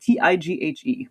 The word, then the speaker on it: Tighe: but for the attention of one Reverend Thomas Tighe. It's pronounced or sorry, it's spelled t i g h e, but it's Thomas Tighe.